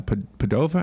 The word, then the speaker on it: Padova: a market in padua padua in italian is uh padova i think is how they say it okay it's an ancient